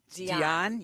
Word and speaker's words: Dionne: Dionne. You got to emphasize. Like Dionne Warwick. Dionne Warwick. Dionne. Oh, I say Dionne. You do say Dionne.